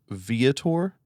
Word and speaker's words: Viator: duplex comp from vator it's pronounced vator this is not merely